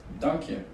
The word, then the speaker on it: Dank je: Dank je. Dank you. It's kind of like German. Yeah. Dank you. Yeah. Just like donkey. High five.